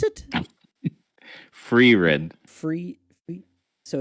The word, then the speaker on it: Frieren: Ryan also had the fire and how do you pronounce it? Free Red.